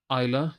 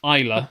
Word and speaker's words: Islay: I'm speed reading oh Isa so the pronunciation is actually there we we could have read that there the whole time literally Isa okay we're morons um